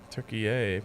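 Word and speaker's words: Türkiye: Turkey yay, pronounced like yay and Kanye.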